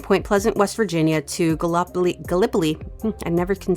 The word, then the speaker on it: Gallipolis: But Route 35 over the Ohio River, and it joined Point Pleasant, West Virginia to Gallipoli. I never can say that right. It's Gallipoli, Ohio, and not Gallipolis.